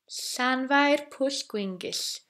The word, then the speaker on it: Llanfairpwllgwyngyll: So Llanfair Pwllgwyngyll. It's a lot of S. So Pwllgwyngyll. Got that so far? Llanfair Pwllgwyngyll, and it has a bit of music.